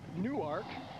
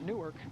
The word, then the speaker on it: Newark: that's where we are the university of delaware and they pronounce it newark i found that out last night i always thought it was newark like in new jersey but it's newark new